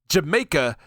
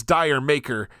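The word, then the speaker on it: D'yer Mak'er: And this is why DJs often mispronounce it as Dire Maker. They're missing the Cochnney style pun. So, it's actually pronounced more like did Jamaica, like they're going to Jamaica, but it's done with the English cochney accent.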